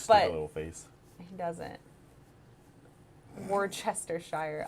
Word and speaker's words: Worcestershire: Worcestershire. Oh yeah, that's the right way to say it.